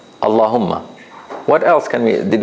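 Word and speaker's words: الله: say then we say Allah what else can we did we notice about this you want to look at it again if you start from it you pronounce the Hamza yes that's another good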